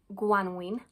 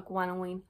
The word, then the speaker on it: gwanwyn: So spring and Cymraeg is gwanwyn. Gwanwyn. Now, obviously, there are dialectal variations in how we pronounce our vowels. So gwanwyn, gwanwyn, gwanwyn. More properly, it should be a gwanwyn.